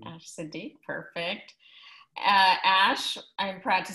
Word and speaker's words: Ash Seddee: Did I pronounce that correctly? Ash Seddee, perfect.